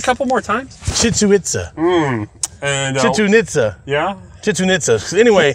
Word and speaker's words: Chichen Itza: I was like, and I'd been to, I'm going to butcher the name, Chichen Itza?